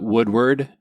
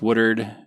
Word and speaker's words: Woodward: a TV station in, I'm going to use the local pronunciation of it. It's not really the pronunciation of it, but Woodard, Oklahoma. Woodard, Oklahoma. Yeah, we call it Woodward. Anyone that reads, I guess. Yeah. But otherwise, for the locals, it's Woodard, and it was a